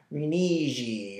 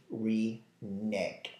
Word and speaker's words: renege: And it's a fun one because people see it and they say hm it's a rei or renegade. It is actually reneg. So if you struggle to pronounce this word simply reneg.